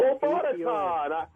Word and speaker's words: Robotaton: It's robot. Robotaton.